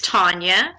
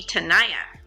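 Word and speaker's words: Tania: have no idea well my real name is Tanya my middle name is Tanya and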